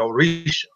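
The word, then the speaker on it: Òrìṣà: The Orisha has a diacritic mark there. I can't remember exactly where, but the S makes the sh sound. So a lot of people spell Orisha Orisha, but it's Oris diacritic A. So that diacritic mark makes the S pronounced differently. So you get the sh sound, the SH sound, instead of the S.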